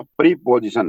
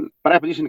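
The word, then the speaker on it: preposition: प्रीपोजिशन, प्रेपोजिशन कहते हैं। प्रीपोजिशन आप स्पेलिंग के हिसाब से बोल देते हैं, लेकिन इट इज प्रेपोजिशन, प्रेपोजिशन, प्रीपोजिशन।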